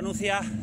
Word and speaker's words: Nucía: carretera que viene desde la Nucía, acento en la I.